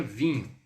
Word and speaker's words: vin: Então praticamente você está falando assim, o vin. Imagina, algo vão. Tipo assim, alguma coisa vã.